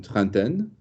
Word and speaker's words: trentaine: Would you care to pronounce the word properly, beginning with the T that you've just said? Une trentaine?